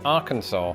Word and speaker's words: Arkansas: Famously, this is also true of the final letter in Arkansas.